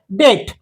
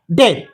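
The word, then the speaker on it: debt: सायलेंटर म्हणतात for ample डेट डेट इथ बी silent आहे डेट बी सायलेंट वॉच या शब्दात टी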